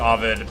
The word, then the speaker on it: Ovid: addition to, you know, Oid's Metamorphosis. And I know it's pronounced Ovid, but by long-standing tradition, I say my my favorite poet's name improperly.